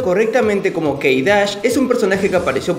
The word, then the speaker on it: K′: así que empecemos con su vídeo acá ha pronunciado correctamente como que irak es un personaje que apareció por primera vez